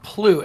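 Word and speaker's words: plugh: voice acted yeah so they took the word p-l-u-g-h and they had to come up with a pronunciation for it and the pronunciation that they came up with was plut and I want to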